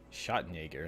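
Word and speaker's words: Schattenjäger: drama if I can speak to you properly shot Jaeger that's how you say it my German is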